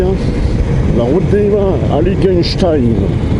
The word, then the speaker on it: Heiligenstein: La route des vins, Heiligenstein. Il faut bien prononcer à la fin Stein.